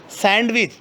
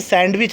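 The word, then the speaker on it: sandwich: सैंडविच, कभी भी सैंडविच नहीं होता, डी यहाँ पर साइलेंट होगा, सैंडविच।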